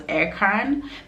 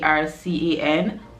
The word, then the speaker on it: Ercan: Just like the North Cyprus airport, that everyone who comes pronounces it as Erkan because it's literally ERCAN, but no, it's Turkish and it's pronounced Ercan.